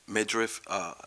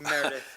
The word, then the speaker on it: Meredith: Also, finally, we received correspondence from NJDOT, Midriff, if I'm pronouncing her name correctly. I'm sorry if I'm jacking it up. Meredith. Meredith, okay, sorry.